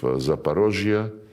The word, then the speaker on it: Zaporozhye: And when we now liberate remaining parts of Zaporozhye, this is the Russian way to pronounce it, and Kherson, the people,